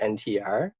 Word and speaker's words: NTR: And so if you look at the etymology of the word natural, it comes from Egyptian nature, which is pronounced NTR, Mm-hmm.